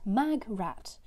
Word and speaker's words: Magrat: pronunciation pronunciation the pronunciation Terry Pratchett is quoted to have said my greatest regret pronounced mag rat doesn't matter what I